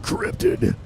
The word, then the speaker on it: Kryptid: Kryptid. It's more epic. How do that you way. guys pronounce it?